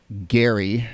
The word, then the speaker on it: Gerry: um he it is Jerry Mander as what it's been called but apparently Gary is how he pronounced his last name and then the other